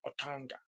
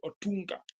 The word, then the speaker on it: Otunga: So David Otunga but he normally pronounces as Otanga. Yeah. But here in Kenya we say Otunga.